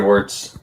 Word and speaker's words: Wertz: I've never Yeah, Wartz is how it's pronounced here.